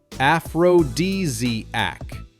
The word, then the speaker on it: aphrodisiac: The correct way is aphrodisiac. Start with aph, then ro, add d, flow into z, and finish with ac.